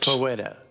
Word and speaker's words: Fosetta: Fosetta. Fosetta is her name. Agnietta Fosetta. Out character, it's Fosetta. Fosetta? Yes, yeah. Fo- Fosetta. The Z- The Z is silent.